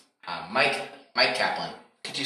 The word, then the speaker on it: Myq Kaplan: your name uh mike mike kaplan could you spell it for us i spell mike uh myq sorry or you're welcome